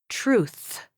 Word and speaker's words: truth: Luke articulates the sounds incorrectly, sticking out his tongue at the t sound in the beginning. Luke, you sound like you're sticking out your tongue for the t sound at the beginning of the word. You are sticking your tongue out at the wrong time. You should articulate the th sound at the end with your tongue stuck out in between your teeth.